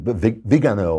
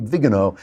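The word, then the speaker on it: Viganò: But now with this letter from the Archbishop Vigano, I think it's pronounced Vigano, who says Pope Francis knew that there was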